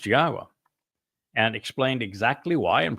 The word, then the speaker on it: Yahowah: person to tell you that Yahwa's name is pronounced Yahwa and explained exactly why and proved it.